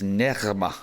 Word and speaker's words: Nerma: And her name is Nerma. But see, I can't say it because you have to roll the R.